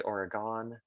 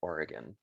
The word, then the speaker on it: Oregon: the state of oregon you might want to say oregon the locals call it oregon capital is salem crater lake national park is worth mentioning it is in the cascade mountains of southern oregon and crater lake was